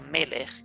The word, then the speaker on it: Melech: Esa palabra Melech, que usted ve allí como M-L-K, en hebreo se pronuncia Melech, que significa rey, soberano y juez.